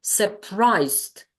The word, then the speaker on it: surprised: here excited here we have surprised surprised here it's St that's why only two syllables and in a bad